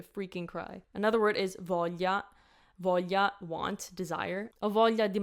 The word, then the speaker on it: voglia: Voglia. The G has nothing to do with anything. Like there's no G in the sound.